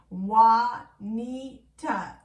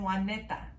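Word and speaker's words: Wahneta: one was spelled w-a-h-n-e-t-a wah knee-tah which if you think about it in english it makes perfect sense that's how you would pronounce it but in spanish the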